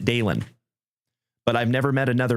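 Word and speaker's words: Dalynn: And it was spelled D-A-L-Y-N-N, like Dalin. But she pronounced it Dalen.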